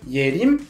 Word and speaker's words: Yerim: Par exemple, j'ai une amie qui s'appelle Yerim, elle écrit son prénom en hanja de la manière suivante. Le premier caractère se prononce Ye et signifie la clarté, l'intelligence. Et le deuxième se prononce Rim, qui signifie la forêt.